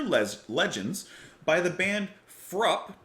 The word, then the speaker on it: Fruupp: Legends by the band frup is how I understand to pronounce their name cuz someone said that it Rhymes up cup so frup uh this album released